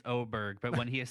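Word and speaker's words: Åberg: I've never heard It is a big A, but I guess in Sweden that's an O sound.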